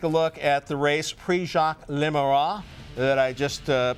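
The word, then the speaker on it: Prix Jacques Le Marois: At the Prix Jacques Lemois. That's my French pronunciation at Deauville, right?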